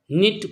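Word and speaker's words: knit: निट बुनना K silent है।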